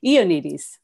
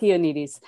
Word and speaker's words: Ioannidis: Ioannidis, who's, and I'm sorry, I've actually pronounced that completely wrong. You just actually gave it to me. Ioannidis, Ioannidis.